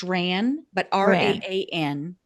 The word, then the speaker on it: Raan: And Yeah, and it's pronounced Ran, but Ran. Raan, right?